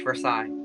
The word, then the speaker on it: Versailles: Versailles Versailles it's just Versailles you don't pronounce the S either you normally don't pronounce